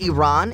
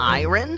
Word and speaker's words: Iran: Did you know the country is pronounced Iran and not iron?